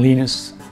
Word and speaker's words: Linus: Some people try to call me turbos, which is just hard to pronounce. So, so as long as they it's some variation of Linus, I'm fine with it.